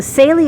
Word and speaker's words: Saleae: good enough reason so celie is how you say it uh and everyone knows